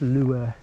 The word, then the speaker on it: Lue: It's actually pronounced Louis.